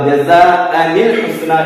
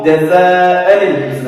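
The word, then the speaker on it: جَزَاءً الْحُسْنَى: വസ്ലിന്റെ ഹംസക്ക് കൂട്ടി ഓതുന്ന സമയത്ത് ഉച്ചാരണത്തിൽ കൊണ്ടുവരില്ല. അപ്പോ ജസാഅനിൽ ഹുസ്ന, ഇവിടെ ജസാ ഉണ്ട് കേട്ടോ, ഞാൻ ഹംസ മാത്രം എഴുതിയെന്ന് മാത്രമേ ഉള്ളൂ.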